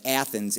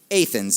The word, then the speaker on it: Athens: Most people would incorrectly pronounce that Athens, Illinois, but if you're an Illini, you know the correct pronunciation, of course, is Athens, Illinois.